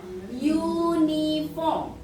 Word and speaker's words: uniform: Contoh, uniform, bacanya pakai ada bentuk, ada huruf u, seolah-olah ada y-nya kan, maka kita tetap pakai yang ini karena bunyinya bukan huruf vokal.